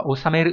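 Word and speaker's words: 収める: Thông tin bổ sung đó là cả bốn từ sau đây đều đọc là osameru, thế nhưng nghĩa khác nhau. Ví dụ chúng ta có chữ thu đọc là osameru mang nghĩa là thu được, ngược lại hoàn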